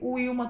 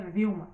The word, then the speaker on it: Vilma: Eu já vi Wilma também, tá, gente? Por isso que eu fiquei meio assim na hora. Mas aqui, no caso, a pronúncia seria Vilma, tá bom?